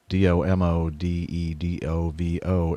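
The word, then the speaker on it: Domodedovo: she she does a really nice job of pronouncing the do mo de do vo Airport mmm-hmm about pips pronounces it exactly like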